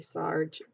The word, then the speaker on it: Sarg: Sarge and it says Sarge rhymes with argh that sword argh ok